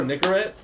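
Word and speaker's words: Nicorette: It was just piles and piles of nigarette. I was like, "Oh my god, be careful when you say that word." Yeah, bro. Nicarette.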